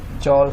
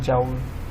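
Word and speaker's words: joule: और जी work, torque, energy, जैसे work हो गया, टॉर्क, एनर्जी, इनके भी यूनिट्स जॉल होता है, जिसे कुछ लोग प्रोनाउंस करते हैं जाउल, एक्सेंट का फ़र्क होता है।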